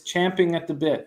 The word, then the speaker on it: champing at the bit: twenty one appointed champion it's champing at the bit yes why really yes we've been saying it wrong our entire lives giants first lefties 256